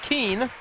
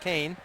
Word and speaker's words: Keane: up actually in and Keane or Kane excuse me spelled Keane but pronounced Kane along with Brian Kaufman's